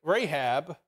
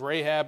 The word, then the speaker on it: Rahab: Old Testament it says Rahab it's the same word okay just pronounced differently I mean it's because the ones Hebrew and one's Greek so um Boaz is